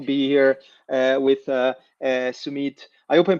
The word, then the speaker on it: Sumeet: super excited to be here uh with uh Sumit. I hope I'm pronouncing correctly. Sumit you want to quickly introduce yourself. Yeah. Uh hi Francisco. Uh my my name is Sumit.